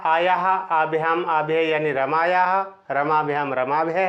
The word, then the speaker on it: रमे: जैसे संबोधन में हम आ का उच्चारण करते हैं वो गलत होता है, रमे ही होता है।